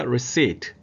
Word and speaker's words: receipt: 받다, 받을 수, receive, 뭐 get도 됩니다만 receive의 명상 receipt, P가 묵음이니까 receipt, 지출하다, pay의 명사형 payment.